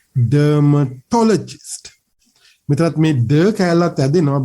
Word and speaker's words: dermatologist: We hear dermatologist, something like that. I have heard many a time OET students saying this one, dermatologist, something like that. No, that is not the correct pronunciation. The correct pronunciation is dermatologist. Here me to kala tamai stress when we have to say dermatologist. So that what with me, dermatologist. This toe part has to be stressed.